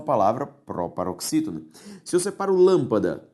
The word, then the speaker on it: lâmpada: própria oxítona se separou lâmpada lã pa da a sílaba tônica é a antepenúltima e por isso lâmpada possui o acento circunflexo tudo bem a segunda